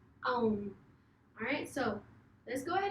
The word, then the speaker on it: Om: So you say it like A-U-M. A-U-M. Om.